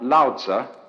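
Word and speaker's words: Lao Tzu: The counterpart to Confucious, one called Lza, which is spelled L A O T Zu, is supposed to have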